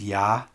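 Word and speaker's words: Я: It's pronounced ya, and it's actually the last letter of the alphabet.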